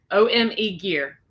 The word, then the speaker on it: OME Gear: of omega i hope i'm saying it right ome gear okay so it's the actual name so ome